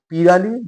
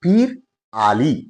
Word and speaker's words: পিরালী: আর এই প্রত্যাশা নিয়ে আজকে কথা বলব পীরালি ব্রাহ্মণ। বাংলার ব্রাহ্মণ সমাজের একটি থাক বা উপসম্প্রদায় হল পীরলী ব্রাহ্মণ। যদিও এর প্রকৃত উচ্চারণ হচ্ছে পীর আলী।